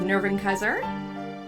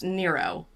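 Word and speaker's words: Nrvnqsr: last time we had our face off with nerving Kiser or actually apparently it is pronounced Nero he his name is Nero chaos lovely I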